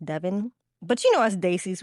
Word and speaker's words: Devon: Did y'all know it's actually pronounced Devon?